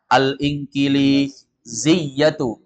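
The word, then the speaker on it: الإنجليزية: Al-Inkili, linya panjang. Al-Inkiliziyatu. Ya-nya tasdid.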